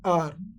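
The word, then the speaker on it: hour: Pronounce नहीं करेंगे तो इसको हम पढ़ेंगे आर।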